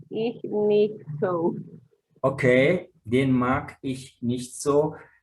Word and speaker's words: mag: Seinen Briefkasten mag ich nicht so. Okay, den mag ich nicht so. Cuidado con esa G de mag, eso se pronuncia g, ¿no? Mag. Mag. Casi como una K.